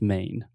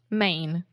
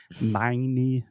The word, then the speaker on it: Maine: or when we have a word that ends in e in English we don't pronounce the E the E is silent so just main main exactly I don't want